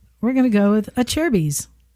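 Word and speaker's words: Acerbis: It's pronounced a cherries. People mispronounce it. Aserbus.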